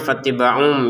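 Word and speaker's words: فَاتَّبِعُوا: Fattiba'un dibacanya fattiba'um ya dengan adanya mim kecil ini. Karena di sini tanwin atau dhammatain bertemu dengan ba ya di Quran Madinah itu yang tanwin yang 2 dhammah itu menjadi 1 dhammah ya. Kemudian ada mim kecil sebagai gantinya sehingga cara bacanya bukan fattiba'un tapi fattiba'um.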